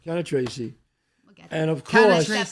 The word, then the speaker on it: Cannistraci: Cannistraci. Cannistraci.